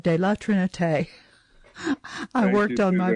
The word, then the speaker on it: de la Trinité: So I really worked at pronouncing La Trinité, de la Trinité.